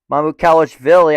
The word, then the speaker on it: Mamukelashvili: Mamukelashvili.